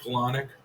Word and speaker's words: Palahniuk: You got Fight Club by Chuck Palahniuk, I believe is how you pronounce it.